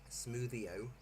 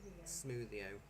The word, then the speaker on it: smwddio: Smoothio, but it's spelt SMWDDIO because it's got a different Smoothio.